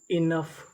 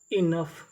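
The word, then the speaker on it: enough: हमारा U लिखा है यहाँ पे U साइलेंट रहेगा, हमें यहाँ पे U का उच्चारण नहीं करना। तो पूरी मीनिंग क्या बनी इनफ, इनफ।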